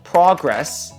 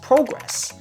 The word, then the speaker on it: progress: the word for example progress versus progress same letters same basic sound but the meaning changes depending on how you say it I'm making progress